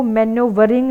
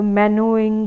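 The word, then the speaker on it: maneuvering: मैनरिंग मैनरिंग other characters बेटा इसको मैनो वरिंग नहीं बोलते यहां पे ईआर जो है ना पूरी तरह से साइलेंट है तो मैनो इंग बोलेंगे इसको मैनो इंग अदर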